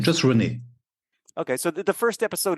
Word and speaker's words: René: I mean, René has an accent on the last E, which is saying not. Yeah, it's you're pronouncing it A, like in French.